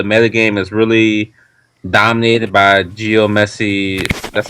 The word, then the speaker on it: geomancy: I think the metagame is really dominated by Geomancy. That's how you say Geomancy. Yeah, How you pronounce it?